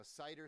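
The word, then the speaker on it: CIDR: called Cider notation now cider stands for classless interdomain routing c d r and we pronounce it cider like apple cider notation here works like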